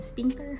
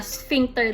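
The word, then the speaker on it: sphincter: Ano bang pronunciation? Spinter. Spinter hindi ko alam. Teka lang mag-google tayo ng pronunciation non kasi baka mamaya ma-bash na naman ako eh. Ayan na nga. Sphinkter daw. sphinter iyung tumor malapit sa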